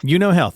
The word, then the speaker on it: Euno Health: Euno Health. Okay, so just kind of like right. The card game, but with an E in front of it.